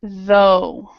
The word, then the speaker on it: though: even try so we have through we have though uh none of those none of those words are are are pronounced when they are pronounced this word it's